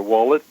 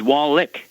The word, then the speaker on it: Wallach: thank you hello Dr wallet I have a question about fibrom oh you got my name wrong there did I really I'm sorry yes his Wallick not wallet ah okay I'll try